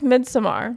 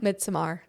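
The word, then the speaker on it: Midsommar: We've talked about how you pronounce it correctly. It's Midsomar. Midsomar.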